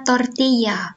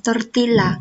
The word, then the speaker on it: tortilla: Yup, bacanya tortilla, bukan tortilla, karena ada 2 L.